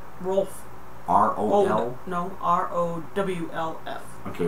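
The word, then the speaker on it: Rowlf: Probably the first one that I ever saw was Ralph. Am I saying it right? Rolf. R-O-L? No, R-O-W-L-F. Okay, Rolf.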